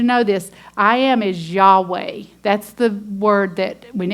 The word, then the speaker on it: Yahweh: all caps that is Yahweh I am the Covenant name God has with his people Israel so that the Hebrew word would be pronounced Yahweh and it's built on